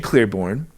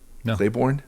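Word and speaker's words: Claiborne: community refugee communities or Shane Clearborn. Um did I say it wrong again? Clayborn. Okay, good.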